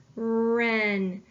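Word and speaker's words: wren: and last I have the word Ren I need to underline my ghost letter digraph I need to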